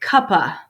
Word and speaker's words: cuppa: Now, in my regular pronunciation, I will kind of combine cup of. It sounds like cuppa, C-U-P-P-A, cuppa.